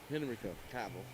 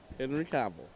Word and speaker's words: Cavill: Henry Cavill. Cavill. You say it Cavill. however you want. I'm pronouncing it the way the English or the words say. That's how it's pronounced.